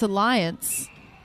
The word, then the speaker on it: Alliance: was calling another team aliens Alan but it's Alliance oh it's Alliance and I was said and